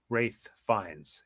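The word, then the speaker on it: Ralph Fiennes: Rafe Fiennes, even though it's spelled Rafe, not Rafe.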